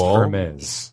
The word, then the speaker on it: Hermes: Our newly designed website that won a Hermes Design Award. It's pronounced Hermes.